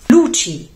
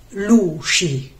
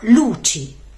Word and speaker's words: luci: luci di Natale luci e non luci come spesso pronunciano molti Romani con la C scivolata Ma luci e può aiutare pensare al cinguettio degli uccellini cip cip luci cip l